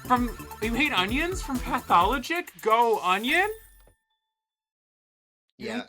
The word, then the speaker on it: Pathologic: 'Cause I think I always say it wrong, but I forget It's how I say it. pathologic. Okay, I always say it wrong. Like you would say pathological liar or something like that.